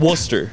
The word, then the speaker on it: Worcester: but that was it Worcester werer Worster Worster the r is silent which is weird wer Ardo right yeah